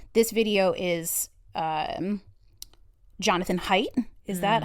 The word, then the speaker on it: Haidt: Now, this is This video is, um, Jonathan Haidt.